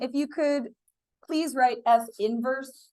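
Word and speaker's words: f⁻¹: you could please write F inverse don't say F negative one it's F inverse is how you say that although I'm not going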